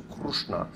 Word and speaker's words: Krishna: So Maratha speaker will pronounce Krishna with more of an U sound at the beginning, so Krishna. So then you would typically see K-R-U-S-H-N-A if you're in Mumbai or Pune, whereas in other parts